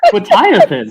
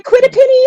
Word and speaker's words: quetiapine: That's how you pronounce it? Quetiapine. That's so easy. We did not know. That's not even close. Yeah. The quitapini, I loved it.